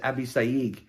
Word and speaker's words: Abishag: And the name was Abishag. I've been told that the better pronunciation is Hebrew is Abisayig.